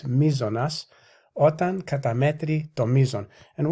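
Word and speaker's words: μείζονος: I always get the pronunciation of this wrong. It's mizonas.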